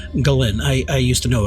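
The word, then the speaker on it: Ghislaine: By the way, that is the correct pronunciation. Galen. I I used to know a Galen in college. I called her Galain for quite a long time until she corrected me.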